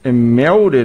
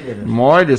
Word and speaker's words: Meurer: Estamos recebendo aqui o seu Meurer, é isso? Moirer se pronuncia, Moirer, né?